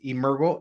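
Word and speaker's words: Emergo: that so the name of our company is Urgo Academy it's on the screen Urgo is actually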